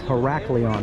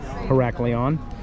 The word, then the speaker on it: Heraklion: Today's port is Heraklion.